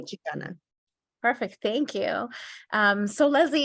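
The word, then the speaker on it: Xicana: Chicana with an X. Is it still pronounced Chicana? Yes, the X represents the indigeneity. So Okay. it's still Chicana.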